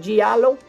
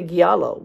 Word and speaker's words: giallo: right on that one giallo it sounds like jello and i feel very italian when i say it that way i used to say giallo because well i'm cuban